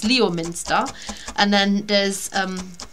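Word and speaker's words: Leominster: um and of course there is lemster which is if you pronounce it properly it's Leo Minster and then there's um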